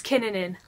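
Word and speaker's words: Kinnunen: know hey kin Ihnen she said it it's kin Ihnen that's how I pronounce it that would make a lot of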